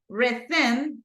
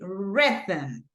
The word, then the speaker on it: rhythm: And I don't say rhythm, but I say rhythm, right? Because the stress goes in this part.